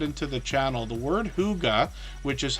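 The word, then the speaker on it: hygge: we even get into the channel the word Huga which is how we pronounce this h y g g if you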